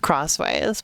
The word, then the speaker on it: Xways: They tried to call them X or for a while they were calling uh Xways or well it was meant to be pronounced crossways but apparently nobody did.